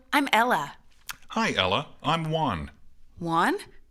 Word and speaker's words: Juan: Dicen como one de uno. One. Este es mero raro la pronunciación de ese nombre, ya que como son